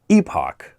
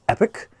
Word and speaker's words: epoch: be getting a new I always pronounce this Epoch but someone told me that it's pronounced epic I don't know if